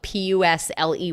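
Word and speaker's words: pusley: weed little hog weed fat weed or pusle that's spelled p u s l e y but it's pronounced pusle or pusle whatever anyway you can eat it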